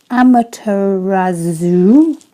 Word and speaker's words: Amaterasu: I'm going to try and pronounce it's Amaterasu.